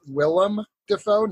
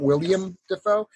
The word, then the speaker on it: Willem Dafoe: are at this point it is Willam defo not William defo there was actually even